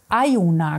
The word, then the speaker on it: Iona: Jetzt muss ich wieder, ich würde Iona sagen. Iona, glaube ich, wird es ausgesprochen. Guck, wie sie schon guckt, ich habe den Sattel in der Hand und sie sagt, ach nee, ernsthaft?